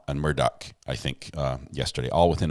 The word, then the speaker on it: Murdaugh: which is funny because the judge can't figure out how to say the last name for for a family that's so famous and and well known in the legal field in the area he called him Murdo murder and Murdoch I think